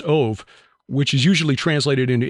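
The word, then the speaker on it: אוב: also the origin of the Hebrew word of OB but pronounced ove which is usually translated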